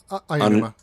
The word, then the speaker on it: Aonuma: How do you pronounce his name? Aonuma.